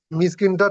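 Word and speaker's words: مسكين: মিসকিনটা এরকম, মিসকিনটা টান মিসকিন বলে ছাড়তে হবে, তাই তো? মিসকিন কিন, মিস নয়, মিস কিন। এটি মধ্যে আরজি অকফি হয়ে যাচ্ছে, যার কারণে 3 থেকে 4 আলিফ টান দিতে হচ্ছে।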